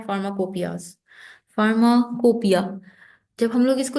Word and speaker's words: फार्माकोपिया: Pharmacy में कहते हैं फार्माकोपियाज। फार्माकोपिया, जब हम लोग इसको लिखते हैं इंग्लिश में तो देखें इसके स्पेलिंग फार्माकोपोइयाज लिखते हैं। स्पेलिंग को नोट करें, कोपोइयाज, लेकिन बोलते क्या हैं, कोपिया।